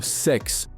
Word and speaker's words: CeX: on payday, somehow CEX, or sex to use the official pronunciation, is still standing.